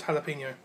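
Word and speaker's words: jalapeño: It's pronounced jalapeno.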